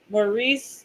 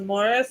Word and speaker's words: Maurice: M but so like if you accidentally said Maurice but his name was Morris, he would like freaking freak out. But it's like your name is literally spelled like Maurice, not Morris.